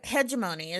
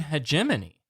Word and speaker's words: hegemony: Um I hegeimony is what I've always called it. But new Star Trek talks about the Gorn Hegemony, right? Hegemony. It's a soft G like GIF and GIF.